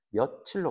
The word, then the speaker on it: 며칠: 근데 그렇게 발음 안 하죠. 우리는 며칠로 발음하지.